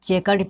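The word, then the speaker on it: chequered: कोई दिक्कत नहीं कि इसको हम चेकर्ड पढ़ेंगे। क्या पढ़ेंगे? चेकर्ड। यहाँ पे जो क्यू का उच्चारण जो आ रहा है, यहाँ पे क्यू जो आपको दिख रहा है यहाँ पे, इसको हम क्या पढ़ते हैं? क पढ़े, हम इसको क पढ़े।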